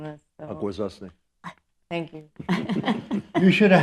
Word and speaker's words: Akwesasne: of Kahnawake, and I have a little trouble pronouncing this. So. Akwesasne.